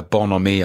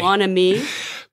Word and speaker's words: bonhomie: And it kind of created a bonhomie, I suppose, that was really nice.